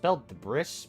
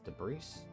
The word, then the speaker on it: debris: Meanwhile, Neptune jumps around some debris, why is debris spelled with an S? That's spelled debris, but it's debris? It's debris.